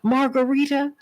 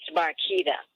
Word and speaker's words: Marquita: can't make this up Margarita am I pronouncing am I pronouncing your name correctly it's uh it's Marquita Marquita oh my goodness we